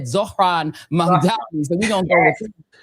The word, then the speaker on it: Zohran Mamdani: He said Zohran Mamdani.